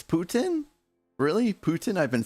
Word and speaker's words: Putin: It's Putin.